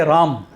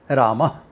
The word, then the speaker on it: Rama: You can't say Ram in Sanskrit. Hindi you can say Ram. Rama. Yeah. There is an A there which you have to mention.